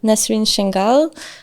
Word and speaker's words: Nesrine Changuel: host again today uh with me we have nasin shenal do I pronounce it correctly yeah okay this was this